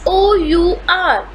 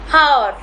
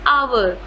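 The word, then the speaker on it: hour: learn next is h o u r many people pronounce it as heart but it is not however it is our it is our next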